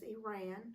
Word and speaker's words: Irene: the daughters were Irene, pronounced as Iran because it was in French, and Louise, which was the other younger sister, Wiltz, Wiltz.